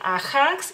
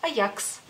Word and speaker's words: Ajax: esa terminación pero sí ustedes dicen a hanks y nosotros decimos Ajax otro producto de limpieza